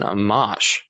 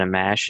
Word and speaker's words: Amash: Speaking about the next president making these decisions, Justin Amash. Am I pronouncing his name correctly? I am, right? Justin Amash or Justin Amash?